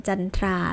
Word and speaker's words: จันทรา: เป็น ถาม ว่า สาย แต่ มัน มี คำ ยก เว้น บาง คำ ที่ ไม่ ต้อง ออก เป็น เสียง ซอ โซ่ วัน หา เช่น จันทรา แล้ว ก็ แทรกเตอร์ ต้น นั่น เอง ค่ะ ก็ จบ